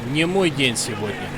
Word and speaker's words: Не мой день сегодня: His wording is correct as far as it's not my day in Russian. However, pronunciation, well, not so good. He should have said «Не мой день сегодня». I'm sure you can hear the difference.